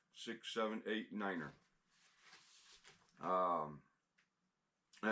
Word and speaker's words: niner: alphabet and numbers uh tells you how to pronounce the the numbers uh 0 1 two three 4 5 six 78 Niner um and it's got a lot of your